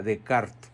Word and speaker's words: Descartes: apellido francés Roberto decart se escribe Descartes Renato perdón no Roberto Renato Descartes se pronuncia decart y muchos se han